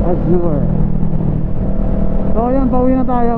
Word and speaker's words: Azure: It's Azure.